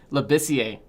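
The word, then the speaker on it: Labissière: So how do you pronounce it? Labissiere. Labissiere. Yeah. See, I just try to see how it was pronounced, but it does make sense because it's from Haiti and being with the French name.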